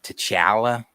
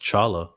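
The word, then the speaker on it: T'Challa: That's like It bothers me when like when people say Tala Tala and I'm like, "Oh, I don't know. Is it Is it Tala or Tchala?" It's It's actually supposed to be pronounced chala.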